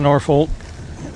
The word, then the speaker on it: Norfolk: So I knew nothing about Norfolk other than most people pronounced it. The folk part was something that sounds a little less like folk.